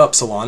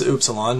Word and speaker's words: upsilon: one it's not an up salon it's upsilon much like a double o sound in english like in the word